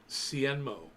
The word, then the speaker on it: Hsienmo: And these guys, Hsienmo, Sienmo, with an H at the beginning. The H is silent.